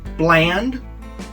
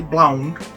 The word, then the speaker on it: blaand: making blonde mispronounce it they say bland or blonde but it's actually blown and some of